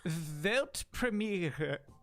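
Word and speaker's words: Weltpremiere: question for you sure how do you say World premiere in German it's actually velt premiere yeah it's good congrats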